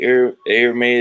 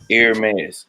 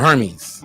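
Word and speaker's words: Hermès: Miss for everybody who don't want to say air May is the right way it is pronounced air mass that's it not Herman or Hermes no no or herpes anybody all the way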